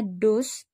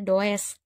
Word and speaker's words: does: Max tepat kemudian Nana dust and awalnya duh jadi ditambah es sama es jadi dosen ya dowes tulisannya Tapi bacanya dus Nana does the disease